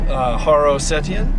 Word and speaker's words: Haro Setian: I am with one of our great clients here in Greenville, Haro Setian. I said all that right? You did. Do I need to spell it?